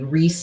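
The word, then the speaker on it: Ries: recommend it to everybody reese is spelled r-i-e-s and so this is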